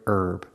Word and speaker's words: herb: to meet you and the word herb herb and herbal both have a silent h so it's an herb